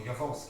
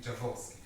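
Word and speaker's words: Jaworski: called the javos or yavoski excuse me I mean I actually met yavorski and he pronounces his name javorski so this is from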